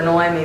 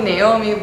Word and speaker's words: Noemi: There's so many people that have a hard time saying my name. Naomi, which it doesn't bother me, but it seems to bother everyone else, so they don't know how to say it.